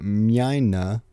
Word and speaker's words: Mina: here we go with Mina sounds exactly like what you would think if you tried to imagine a German pronouncing Miner niana from niana we